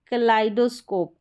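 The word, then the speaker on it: kaleidoscope: यहाँ पर है कलाइडोस्कोप, आई, ये भी आई है, ई आई आ रहा है, इसका आई।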